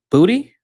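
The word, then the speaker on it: Boutte: Um Jameson Williams 18.1, uh Kahan Booty, yeah, that's how you say his name.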